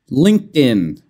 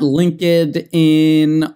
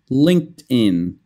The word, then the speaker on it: LinkedIn: go over in class LinkedIn it's not linked 'add in or something like that the pronounciation linked in LinkedIn and it kind of sounds like din so move the D